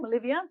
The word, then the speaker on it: Melivia: We've got Lulu and Mishka coming to perform from Byron Bay, and we have Jeremy Melivia, that's how you say it, Melivia.